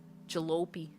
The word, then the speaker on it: jalopy: Jalope. Jalopy. It's the right pronunciation.